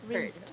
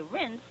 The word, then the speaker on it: rinsed: of hood should be rinsed a rinse rinse rinse rinse very good how do you read this best bet best that dress yes you have to pronounce every single letter you know advance versus